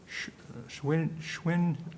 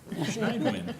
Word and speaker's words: Schneidman: to mess this up, Schwinn, no, sir. Help him out. Schneidman. Help him. Tywin, storm tonight, just, I can't pronounce it. Schneidman. It's a little bit German, right? Just German.